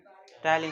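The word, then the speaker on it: ptyalin: क्या पढ़ेंगे इसको? टाइलिन, पी साइलेंट रहता है, पटाइलिन नहीं टाइलिन, इंग्लिश में, इसलिए हिंदी में लिख रहे हैं, ठीक है, टाइलिन।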